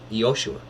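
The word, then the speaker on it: Yeshua: the father okay maria or pronounced right in the ancient aramaic for westerners you find it hard to say yoshua equivalent in english is joshua okay so this is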